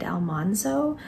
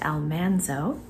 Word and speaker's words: Almanzo: uh Dean Butler who played almano or how it's supposed to be pronounced Almanzo and then I'm taking a